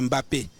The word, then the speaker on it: Mbappé: manière MB soit écorché on ne prononce pas le m devant le B donc c'est Mbappé et c'est Bianda on